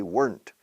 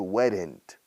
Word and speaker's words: weren't: Fíjate en la pronunciación de weren't. Yo no he dicho weren't. Weren't, dos sílabas, no, weren't.